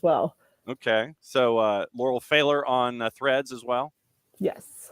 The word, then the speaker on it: Pfahler: and I will say my last name's failer I should haveed you at the beginning but hit me over the head and say that John you're an idiot you mispronounced it it's okay everyone does it's that AG so it's p as a Paul F as a Frank a h l e r so that